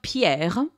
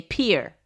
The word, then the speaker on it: Pierre: capital of south dakota is spelled pierre and you say pier really pier the capital of idaho